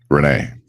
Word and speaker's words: Rene: and afternoon good morning so just to be sure am i pronouncing your name correctly perfectly actually renee fantastic renee so welcome